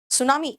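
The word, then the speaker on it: tsunami: सुनामी, बेटा सुनामी में T silent है, ठीक है।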